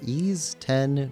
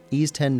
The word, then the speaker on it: Ys X: going to be playing through a demo for NIS 10 Nordics. I had to ask a friend how to pronounce this game. So, NIS 10 Nordics is a action-adventure game published by NIS